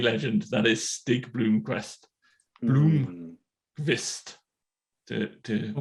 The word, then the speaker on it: Blomqvist: Blomqvist, to pronounce it almost correctly.